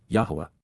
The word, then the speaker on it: Yahowah: and emphatic to rise up in opposition, Yahowah, Yahowah, the proper pronunciation of the name of Eloah, God as directed in his Torah, teaching regarding his Haya.